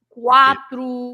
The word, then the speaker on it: quatro: so the QU, as I said, you read it when it's QUA, like for example, quatro, Quattro, sì.